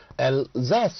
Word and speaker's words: Alsace: So Alsace is the pronunciation, and this is one of the districts actually of erstwhile France, right?